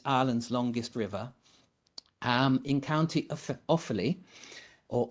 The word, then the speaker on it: Offaly: Shannon, which is Ireland's longest river, in County Offaly, or Offaly, and it was founded in 544 by a chap called St.